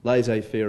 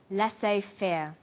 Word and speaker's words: laissez-faire: He uses the phrase laissez-faire. Laissez-faire is a borrowing from French. It closely reflects the pronunciation of the original language and the original spelling.